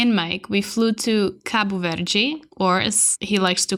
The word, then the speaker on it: Cabo Verde: to call it Kappa Verde Americans call it cape word but the official Portuguese name in pronunciation is Kapoor Virgie and I read an article where the cob